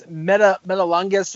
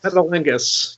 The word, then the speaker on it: Metalingus: I can't pronounce it, dude. Oh, it's Metalungus or Metalang. I don't know how to pronounce it. I'll I accept that. I'll Yeah, I know accept what that. it is. Metalingus.